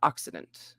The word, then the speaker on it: occident: look it up again oxidant opposite of the orient accident accident okay oxidant i said it right yay western areas of the world especially europe america yeah occident occident like akk youtubes boom okay okay